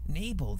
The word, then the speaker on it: Nibel: I never knew how it was pronounced. Nibel, there you go.